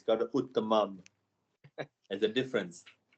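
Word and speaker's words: उत्तमम्: It's got a uttamam. There's a difference. Spelling mistake. Okay, keep continuing. No mistake. So how do I pronounce it? Uttamam, not uttapam.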